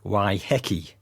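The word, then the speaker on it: Waiheke: why heiki it's pronounced why hecky say it really fast also for fun why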